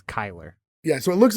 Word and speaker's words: Chyler: It's Chyler spelled with Leigh. a C-H-Y, but it's Chyler.